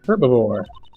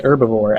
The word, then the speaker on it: herbivore: Despite his ferocious appearance, he is a herbivore. I believe it's an herbivore, actually, because the H is silent.